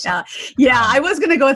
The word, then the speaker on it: Khaled: I was saying it wrong, but I can fix that up. DJ Khaled.